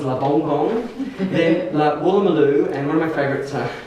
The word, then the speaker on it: Woolloomooloo: and I lived near Woolloomooloo, and a German tourist came up to me and he said, excuse me, I'm looking for La Vola Mola, which is how he pronounced it, and that was